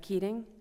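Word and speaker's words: Keating: my application absolutely my name is keing spell it for yep k e a t i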